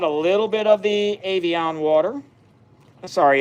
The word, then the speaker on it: Evian: I'm just dumping out a little bit of the Evian water. Sorry, it's Evian.